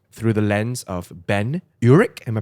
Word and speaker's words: Urich: You know, I think that, as we mentioned, that is the framing device of this book through the lens of Ben Urich. Am I pronouncing that right?